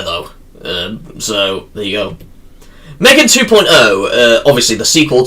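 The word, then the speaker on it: M3GAN: styize certain numbers, but no, it is still pronounced just Megan and then the E is just the three.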